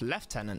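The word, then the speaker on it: lieutenant: was just that's right pronounced left tenant not now I will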